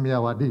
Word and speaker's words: Myawaddy: sendiri itu ada di Kalau tulisannya miiawadi gitu bacanya miyawadi Ya ini perbatasan antara